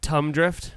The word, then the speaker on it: Thumb Drift: Thumb Drift? How do you say that? Thumb? Thumb. You don't know how to make a TH sound, Paco?